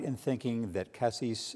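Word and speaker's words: CASIS: right in thinking that Cassis is that the right pronunciation cases that is part of the I've spent too much time overseas I guess so I'll call cases that it's part of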